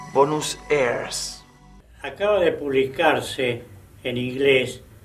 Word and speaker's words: Buenos Aires: junto con el extraño nombre de Buenos Aires, que ellos pronunciaban Bonus airs.